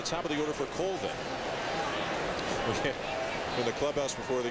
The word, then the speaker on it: Colvin: Well, I said, how does your mom pronounce it? He said, Colvin. But my granddad says Colvin. And mom wins, right? Mom trumps granddad. No disrespect, granddad, but mom wins.